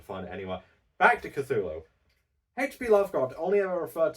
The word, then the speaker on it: Cthulhu: It's It's Cthulhu.